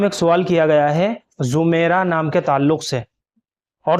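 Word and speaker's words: زُمَیرہ: وعلیکم السلام ورحمۃ اللہ وبرکاتہ۔ دیکھیے، زمیرہ صحیح تلفظ زوات کے ساتھ ہے، زوات کے اوپر پیش کے ساتھ زمیرہ، اور یہ کوئی لڑکی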